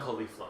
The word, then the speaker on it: Caulifla: Kale and Caulifla, yeah.